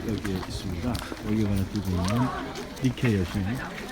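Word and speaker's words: Nike: 월계관을 들고 있는 니케 여신. 이 니케에서 나이키가 파생된 것입니다. 우리는 지금 에베소에 있는 신전들을 내려가고 있습니다. 그러니까 온갖 신들을 모시고 있죠. 아까 좀 니케 여신이 있는데 니케를 영어식으로 발음하면 나이키가 되죠.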